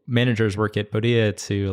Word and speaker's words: Podia: Podia. So it's the plural form of podium, Podia. But like, honestly, sometimes I say it both ways.